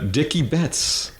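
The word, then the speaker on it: Dickey Betts: Uh then we lost Dicky Betts. I'm not sure if I'm pronouncing that right.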